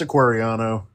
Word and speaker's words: Aquariano: Is that correct? Or did I pronounce that? It's Aquariano.